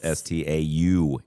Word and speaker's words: Staunton: Stanton, Virginia is spelled STAUNTON. Yeah, I know. And people call it Staunton. It's 'cause but it's spelled that way. Stanton, yeah.